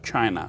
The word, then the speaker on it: Qin: the rise of the Chin Dynasty although spelled as q but pronounced as CH so whenever you see